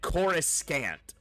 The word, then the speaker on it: Coruscant: But he said Coruscant. For Coruscant, the planet, you know, the Coruscant. Pronounced the C, the second C in the word with a hard constantly throughout the whole damn...